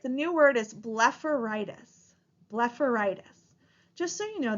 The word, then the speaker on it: blepharitis: so b e pH we pronounce that pH like an F so the pronunciation of this word is blefaritis go ahead and hit